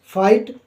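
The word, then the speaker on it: fight: throw ठीक है और एफ आई जी एच फाइट जी H silent है इन सभी में जी एच क्या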